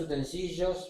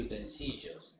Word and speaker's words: utensilio: Utensilio es como auxilio, domicilio, Emilio.